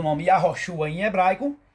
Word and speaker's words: Yahoshua: Aqui nós temos o nome Yahroxua em hebraico. E aqui nós temos a transliteração em português. Sabendo de acordo com a a letra, o H não é mudo. O H pronuncia-se dois Rs.